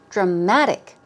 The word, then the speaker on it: dramatic: be an aspect okay dramatic here we go stress goes on the second syllable dramatic dramatic it means climactic is